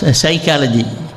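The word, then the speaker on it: psychology: அது போனிக் லாங்குவேஜ் இல்ல என்ன பிஹெச் ஒய் போட்டு சைக்காலஜி என்ன சிஎல் அந்த சைக்காலஜின்னு சொல்லுவாங்க அந்த பிக்கு அங்க உச்சரிப்பே இருக்காது சைக்காலஜி இந்த மாதிரி நாலேஜ் என்பது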